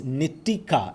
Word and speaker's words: Nitika: It's Nitika, is it? It's Nitika. I've been saying Nikita.